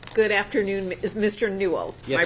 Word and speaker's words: Newell: Newell. Am I pronouncing that correctly?